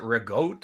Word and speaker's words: ricotta: Some people pronounce it rigotte or ricotta. Rigotte. Like our grandmother would say rigotte. That's Neapolitan. I see. You change C's to G's and you drop off the vowel.